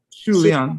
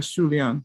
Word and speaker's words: 数量: I'm just making fun of oh, How do you say it? 数量. Shu Liang, yeah, Shu Liang, the amount.